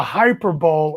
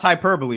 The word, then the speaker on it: hyperbole: let's talk but the hyper bowl of confiscating hyperbole yeah come on man you know that's pronounced hyperbole right i'm just not i